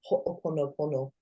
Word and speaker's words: ho'oponopono: There's a Hawaiian saying, it's called ho'oponopono.